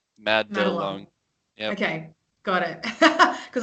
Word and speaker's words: Madelung: How do you pronounce it? Oh, it's actually Madelung. Madelung.